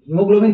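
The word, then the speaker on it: haemoglobin: लोग गलती करते हैं यहां पे हम बोलते हैं ही लेकिन लिखते हैं एच ए ई जैसे हो हे बट we read it एज ही तो ए इज साइलेंट ओके तो एच ए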